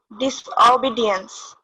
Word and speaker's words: disobedience: Okay, you can see the syllable here, ba sound. You have to put some emphasis there.